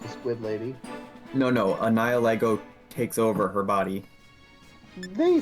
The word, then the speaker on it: Nihilego: If you look at Nihilego, or however you want to pronounce Nihilego, I pronounce it like nihilism, Nihilego.